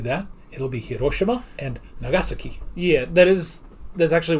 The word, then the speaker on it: Nagasaki: And oddly enough, it's not pronounced Nagasaki in Japanese. It would be Nagasaki. Yeah. Accent on the second. So now anytime I will refer to that, it'll be Hiroshima and Nagasaki.